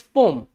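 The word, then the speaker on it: poem: पोएम इट्स नॉट पोएम इट्स पोम क्या है यह पोयम है क्या है पोम है एक्चुअल बात है बोले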